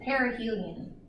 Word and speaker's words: perihelion: a few things here this word you pronounce it perihelion I kind of think is Perry you're kind of close to something Hylian meaning son so perihelion is the